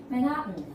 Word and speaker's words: Manhattan: bit so can you guys repeat after me Manhattan um is like this kind of button is